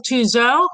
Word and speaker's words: Touzeau: Today we have the WCFA Spotlight on the father-daughter team of Jeff and Carol Tuzo, rhymes with Clouseau.